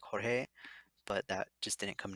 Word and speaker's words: Jorge: in them so like the one i said george i know would be pronounced probably like jorge but that just didn't